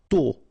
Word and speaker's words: tôt: Tôt. Okay, final T not pronounced, and then this O accent circumflex is a bit stronger than normally. So tôt.